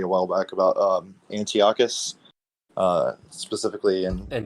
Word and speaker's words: Antiochus: I I actually got into a discussion with somebody a while back about um Antiochus uh specifically in Antiochus.